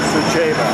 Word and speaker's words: Suceava: We're going by charter to Suceava. S-U-C-E-V-A. The C is pronounced like a C-H.